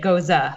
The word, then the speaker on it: Gose: I think it's Gose. I think anything goes. And then my dad, after it was over, he's like, no, you only say it Gose.